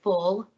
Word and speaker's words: foul: The featured dish today is called full. So it's spelled foul, but it's pronounced full.